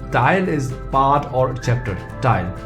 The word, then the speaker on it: T: T is pronounced as te, as in telephone. So you remove this part and this is the pronunciation. Te. like telephone.